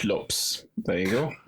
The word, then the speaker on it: Lopes: lops yes lops lops I say not Lopez not Lopez okay I I actually this is a Swedish Thing I actually uh pronounce it the way I read it as a Lopes okay lops yes yes